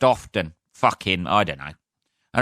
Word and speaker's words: Alfreton: It's not pronounced the way you spell it. It's pronounced. Shut up. It's spelled Alfreton. I struggled with that then. Alfreton. Alfreton. But it's pronounced often.